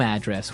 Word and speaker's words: address: So different from your home address where you live. Yeah. And there the stress is on the first syllable address.